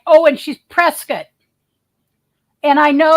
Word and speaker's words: Prescott: for 14 days right right oh and she's Prescot and I know it's called they pronounce it Prescot instead of Prescott see I